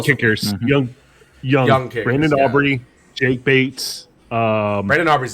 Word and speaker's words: Aubrey: was younger my bad Brandon Audrey is Audrey you mean Aubrey Aubrey yes sorry said it wrong um born in 95